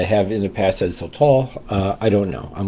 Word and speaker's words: sotol: And I'm going to pronounce it sotol with like really no accent on either ones. Uh I've heard you know, maybe a little bit on the first syllable.